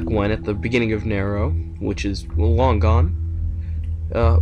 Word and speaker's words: Nero: basically way back when at the beginning of narrow which is long gone uh way back when